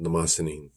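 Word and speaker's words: Mnemosyne: it's a story called namasinin m-n-e-n-m-e m-n-e-m-o-s-y-n-e uh or any number of other pronunciations i pronounce it namasini um ancient greek goddess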